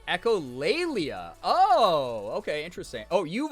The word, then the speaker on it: echolalia: has so much glass it's pronounced echolalia oh okay interesting oh